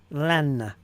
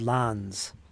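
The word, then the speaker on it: Lannes: I always said lans. He's one of my favorites too. The S is silent. Ah, so S is at the end or silent. Lan. So my question is it pronounced lan-a or is it lan? That's my question. Let me listen again. Lan. Lan. Lan. Lan. Lan. Lan. I guess it's just lan.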